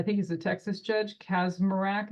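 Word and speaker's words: Kacsmaryk: April 7th, 2023, you've got that, I think he's a Texas judge, Kazmarak is how you say his name, a district court judge in Texas ruled in a case of Alliance for Hippocratic Medicine versus the U.S.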